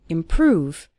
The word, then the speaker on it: improve: seeing your English improve stress on the second syllable improve over time you'll start